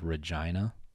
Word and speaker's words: Regina: town in canada called regina yeah and that's how it's pronounced it's pronounced no no no man it's pronounced like vagina bro i'm going to canada